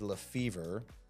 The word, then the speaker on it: Lefevre: you a call and she pronounced it LeFevre. And I think that was my first question when you answered the phone. Yes. Is your name LeFevre? Yes. And you said, yes, it was.